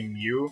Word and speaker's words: Myu: kate seth no it's it's spelled myu so i i believe the pronunciation would be mu yeah you also get